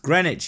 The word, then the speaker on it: Greenwich: into the new world Greenwich oh it's pronounced Greenwich he Philistine he discovered